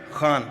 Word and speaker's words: Khan: Khan, am I saying it right? Khan from the epiglotus.